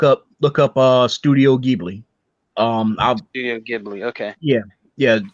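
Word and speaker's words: Ghibli: i' say look up look up uh studio gbi um GI okay yeah yeah and and remember it's spelled with a g h i b l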